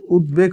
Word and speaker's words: উদ্বেগ: যেমন আমরা কিন্তু উদেক কখনো বলি না, আগেটা কিন্তু আমরা কি বলছিলাম সবদেশ কখনো বলি নাই, কিন্তু এই ক্ষেত্রে কিন্তু আমরা উদ্বেগ কখনো বলা যাবে না, বটা উচ্চারণ করতে হবে।